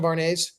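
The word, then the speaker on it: Vuarnet: Did somebody mention varnet? I don't know what that is. You don't know what varnet is?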